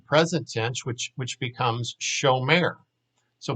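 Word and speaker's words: שומר: tense which which becomes show mayor so what you basically do is you put the o sound in the first syllable where there used to be an ah sound and then the second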